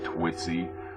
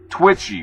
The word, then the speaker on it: Twitchy: Not Twitsy. Twitchy, which is a compilation of what's being said on Twitter.